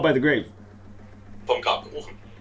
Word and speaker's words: Vom Grab Gerufen: Vom Grab Gerufen. Vom Grab Gerufen.